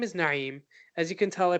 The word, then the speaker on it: Naim: of cultural pride is, pronouncing your name the way it should be as opposed to conforming to how other people pronounce it. Like, I get it, everyone can say Naim, not everyone can do the Ain from the Arabic language. Ain. Let's try that again. Ain. So I get that, Naim is maybe difficult for some, but for me, I can do it.